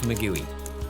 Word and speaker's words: maguey: And this little Michelin Man insect is called Gusano de Maguey, but we insist it should be pronounced Magui.